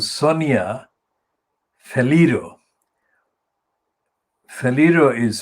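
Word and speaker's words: Faleiro: Faliro is spelled F-A-L-E-I-R-O, Sonia Faliro.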